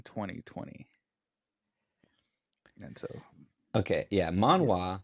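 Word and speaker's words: manhwa: Manwa spelled M A N H W A. That's Korean. This is Manwa. M A N H U A. Man. Okay. Yes. Pronounced the same. Spelled different.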